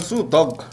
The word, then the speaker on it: Snoop Dogg: 스눕둑이요? 스눕덕. 스눕덕.